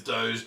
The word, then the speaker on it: Doge: brings it up but the pronunciation is doge d-o-h-j is how you pronounce it but again you can pronounce it however you write which is what ai says i have part of the fun part of dodge coming you can call it dodge coin you can call it